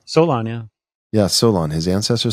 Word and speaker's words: Solon: you can account for it through his ancestor Solon who came down to Egypt right and that's